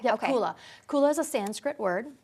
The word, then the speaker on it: Kula: Am I pronouncing that correctly? Yep, Okay. Kula.